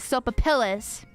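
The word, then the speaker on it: sopapillas: p a p i l l a s soapas or you could say it soap pillis pronounce the L soapas I think it's I think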